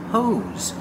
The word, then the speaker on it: hose: is a hose pronunciation hose make a long o sound like know and go and the S makes a sound like zebra this is a hose